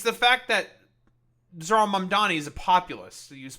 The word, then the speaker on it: Mamdani: The name is Mam Dani. M A M D A N. You can learn how to say it.